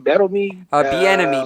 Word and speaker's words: Bieniemy: Bieniemy. Bieniemy. Yeah, Bieniemy. I just don't ever want to mispronunciate someone's name.